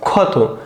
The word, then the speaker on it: ক্ষত: দেখো ক্ষত।